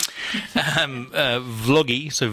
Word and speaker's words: Vloggi: funny Italians pronounce it "vlod-ji". And I think earlier on you said Vloggi but a lot think like a, think like a video blog, a vlog.